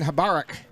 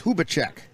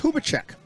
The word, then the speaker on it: Hubacek: Well, they say it's Hubacek. That must be a C in their lineup. As I look at the... So it's Hubacek. That's what I get for trying to read the handwriting on my lineup here.